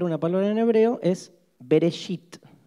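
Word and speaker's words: בראשית: van a aprender una palabra en hebreo es bereshit o veréis it empieza con be el hebreo se escribe de derecha hacia izquierda es al revés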